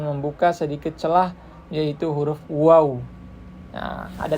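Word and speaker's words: واو: Ketika kita mengucapkan huruf waw, maka bibirnya harus dimonyongkan, harus dimajukan.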